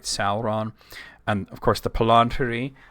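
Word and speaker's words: palantír: And of course the palanter. Uh there should be an accent on the first eye there. We just talked about the palanteer, uh, which is singular.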